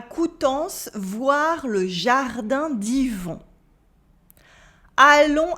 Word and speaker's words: jardin: Voir le jardin, the un at the end of jardin is a nasal sound.